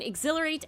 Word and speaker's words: exhilarate: Many people find exhilarate a difficult word to spell. It's easy to forget that silent H in there.